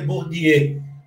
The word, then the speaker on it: Bourdieu: A pronúncia certa seria Bourdieu, mas você não precisa falar francês para fazer entrevista, tá?